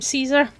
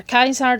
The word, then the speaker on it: Caesar: He now goes by the name Caesar or Kaisar depending on how you want to pronounce it.